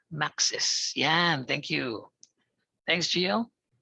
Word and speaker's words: Max's: A lot of people I know, ang pronounce nila dyan ay Max Fried Chicken. Max. Max Fried Chicken, di ba? Pero ang tama ay Max's.